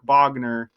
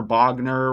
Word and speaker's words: Bognar: Remember, Bognar rhymes with razor.